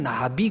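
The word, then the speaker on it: נביא: 프로페테스라는 말이 나오고 구약 시대에는 선지자를 나비 그랬어요. 나비. 여기 날아다니는 나비하고 똑같아요, 발음이.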